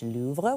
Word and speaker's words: Louvre: Babbel says the correct pronunciation is Louvre, with a very soft pronunciation of R.